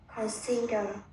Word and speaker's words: consider: Consider. Đọc lại. Consider. Con là đọc thành consider đi bạn. Consider. Consider. Nó không phải âm o đâu nha, nó làm ơ, nó đọc thành con.